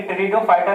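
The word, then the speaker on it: Pteridophyta: अब देखिए टेरिडोफाइटा जो इंग्लिश में मैंने लिखा पी से स्टार्ट किया, लेकिन पी जो है यहाँ पे साइलेंट है, टेरिडोफाइटा ही इसको कहा जाता है।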